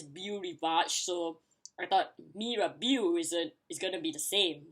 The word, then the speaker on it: Mirabeau: And fortunately, that isn't the only word that I pronounce it correctly for the Monaco corners. So, yay me! The next one is Mirabeau. No, Mirabeau. No, Mirabeau. Yeah, sorry, Mirabeau.